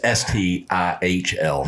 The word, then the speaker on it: STIHL: This is STIHL, not STIHL.